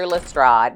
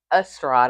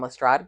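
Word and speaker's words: Lestrade: I actually I mispronounced his name in the first video that I did on Ano Holmes, the first one. Um, Estrad. I kept saying Estrad.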